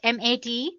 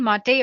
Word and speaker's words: MATE: the mate desktop environment let me pronounce it m80 you can call it whatever you want mate or mate desktop environment so as you can